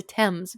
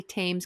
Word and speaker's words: Thames: hmm So in the suburbs of Shanghai, there is a place called Thames Town. I always mess that up. It's the Thames, but I want to say Thames because it's the H.